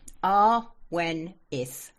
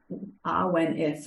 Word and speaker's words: Awenydd: Awenydd. Awenydd. Oh, I completely didn't have that. It's Welsh, which is the old British language. So double D is sounded like TH.